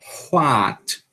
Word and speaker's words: what: Deu para escutar o sonzinho do H antes? What?